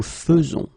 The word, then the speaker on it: faisons: will pronounce it, because you don't pronounce it e as normally you should, but you will pronounce it like e. Nous faisons. Okay, it's really fe, fe, fe. Nous faisons. Okay, you see it with e, but then you pronounce it fe.